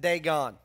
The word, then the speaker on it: Dagon: by the name of dagoon now in Texas we pronounce it Dagon you may pronounce it some other ways hard not to say